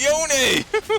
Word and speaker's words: Yone: You're not allowed to pronounce it any other way but Yone."